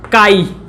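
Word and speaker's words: χ: काई। क्या बोलते हैं इसको? काई। काई, वेयर इट इज काई, प्रोनाउंसिएशन इज काई, बट अब यही तो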